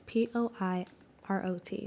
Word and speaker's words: Poirot: It's Poirot.